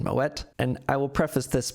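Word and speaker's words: Moët: Moet is a delicious champagne brand, which actually has Dutch origins. That's why you pronounce the T in Moet.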